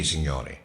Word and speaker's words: Signore: You keep saying his name wrong. Signore.